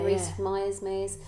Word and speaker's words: Rhys-Meyers: Yeah, Rhys-Meyers.